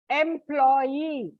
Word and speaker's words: employee: Like take, for example, employee. You don't put before EE. I said last syllable, employee.